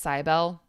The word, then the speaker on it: Cybele: It's pronounced Cybele.